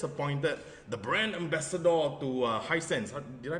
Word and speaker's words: Hisense: But the reason why you were there because you were recently just appointed the brand ambassador to Hisense. Did I pronounce it correctly? Hisense.